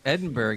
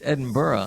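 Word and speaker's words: Edinburgh: a very important thing I used go around saying Edinburg Edinburg Edinburg and he goes dude it's Edinborough I said but it doesn't spell that way it doesn't matter it's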